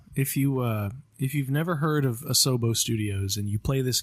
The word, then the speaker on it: Asobo: So shout out to Asobo.